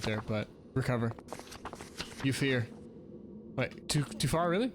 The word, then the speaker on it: Euphear: And then there's a dunce cap and it's pronounced fear.